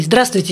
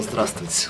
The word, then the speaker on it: здравствуйте: Ну да, 4 согласных подряд, да еще такие сложные, какая-то шипящая, какая-то свистящая, это и для нас непросто.